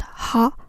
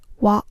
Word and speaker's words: は: The hiragana character ha is usually pronounced ha, but when it's used as a particle, it's pronounced wa. X wa Y des in this structure is acting as a particle, so we pronounced wa.